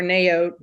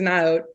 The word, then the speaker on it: Naot: up loved them there a line called um naot or neote or naot depending on who Waits on you in the store but I believe their official pronunciation is not and um they have